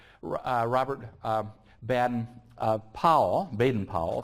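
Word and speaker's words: Baden-Powell: Robert um bad uh pow benen pow is the best way of of pronouncing it uh and the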